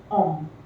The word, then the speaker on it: homme: like honest, are, but in French, all the words with H in them are silent. Okay. For example, homme. This word starts with an H, but it is pronounced as homme.